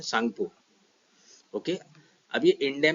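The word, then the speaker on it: Tsangpo: को क्या बोलते हैं सांगपो यहां पर टी साइलेंट है इंडिया में कहां से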